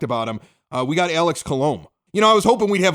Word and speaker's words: Colomé: Well, it's Colomé. I had to look it up on Baseball Reference. They have a little pronunciation guide there, which I point Gene Honda